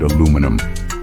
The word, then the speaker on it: aluminum: speak the same language first up let's talk about the classic word aluminum here in the US that's exactly how we say it it's a common word especially in the kitchen where we use aluminum foil for cooking and storage but hop on over to the UK and you'll hear aluminium yes they add an extra eye just to spice things up it's the